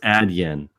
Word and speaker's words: Adyen: Oh, it's pronounced Adyen.